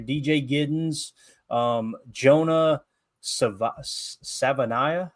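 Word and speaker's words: Savaiinaea: giddens um Jonah sa Savanah I think is how you say it out of Arizona okay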